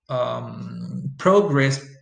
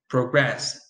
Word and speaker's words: progress: So you have the noun, which usually receives the stress on the first syllable, and the verb, which usually receives the stress on the second syllable.